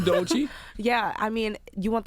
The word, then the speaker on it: Doechii: Did he pronounce that right? Doechii.